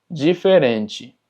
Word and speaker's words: diferente: Y tenemos diferente, diferente, termina en TE, entonces es chi. Empieza con DI, entonces es ji. Diferente.